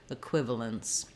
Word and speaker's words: equivalence: sound as well and then this last sound would either be a schwa or almost no vowel there at all going directly from the UL to the lens equivalence another way to practice